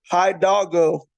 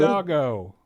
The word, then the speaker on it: Hidalgo: Hi Doggo. Hi, and then Doggo. Hidalgo. I made Yeah. it harder than what it has to be. Hidalgo, Illinois.